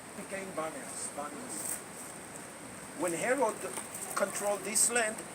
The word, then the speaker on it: Banias: Arabs cannot go with P, so what comes out from their mouth is B. So it's known as Banias. Paneas became Banias.